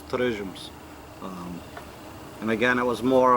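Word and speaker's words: torresmos: And how my grandmother pronounced it was Terresmos, or if you give the Portuguese touch to it, it's Terresmos.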